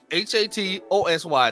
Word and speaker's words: Hatosy: I think that's how you pronounce it. That is Hatosy.